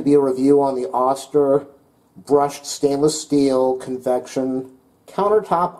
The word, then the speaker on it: Oster: that I've read is the auster I think it's pronounced auster is a much better product